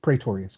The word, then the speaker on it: Praetorious: And it's pronounced Praetorious, correct? You got it.